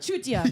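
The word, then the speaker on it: चूतिया: Chutia.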